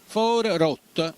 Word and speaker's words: Fuorigrotta: for Rot perché anche il fuori diventa in napoletano For for rot la G quindi sparisce e quindi diventa for Rot quindi siamo nel quartiere for Rot Quindi quando parliamo in napoletano non si pronuncia l'ultima vocale però quando scriviamo c'è